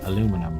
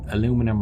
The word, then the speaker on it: aluminum: were in the classroom I have to say aluminum right an aluminium but tomato instead of tomato as well but now that I'm on my own free time it's a bit harder to switch into teacher would if you like okay so let's get our power back and this whether you want to call it aluminum or aluminium it's gonna be a